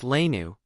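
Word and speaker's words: léine: wearing saffron colored belted tunics called Lane pronounced lanu the plural being l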